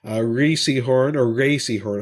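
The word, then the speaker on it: Rhea Seehorn: Ray Seahorn, I should say, is actually how you pronounce her name.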